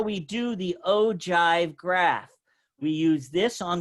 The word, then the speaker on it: ogive: So for the ogive, even though it says ogive, it's pronounced ogive.